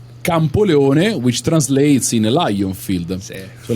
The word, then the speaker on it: Campoleone: know the name, like Campolano. How do you say it? Campoleone. Campoleone. Jesus, that was very far from the right thing.